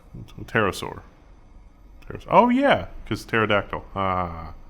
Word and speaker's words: pterosaur: 115 million years so there's the p is silent pterosaur oh yeah cause pterodactyl